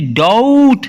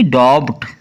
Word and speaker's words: doubt: आगे है DOUBT, डाउट, ना कि डॉब्ट।